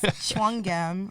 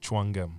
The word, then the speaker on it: Tchouanguem: It's Tchouanguem. When you look at it, it looks like 5,000 letters, but it's 11. All right, say your whole name one more time. Tchouanguem. Tchouanguem.